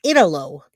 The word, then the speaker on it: Italo: know how to say his name, so it's Italo. I didn't watch this one. This one came out this morning or last night, and I didn't see it. So he calls himself Italo Brett Jr.